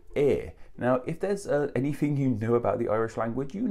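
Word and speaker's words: Aodh: But no, nevertheless, in the Irish language, that is how you pronounce Aer. And Aer was an Irish god of fire, hence why the name means fiery.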